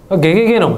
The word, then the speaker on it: ggenome: ggenome、ゲゲゲノムと読みます。これもゲゲゲの鬼太郎みたいな、そういう感じですね。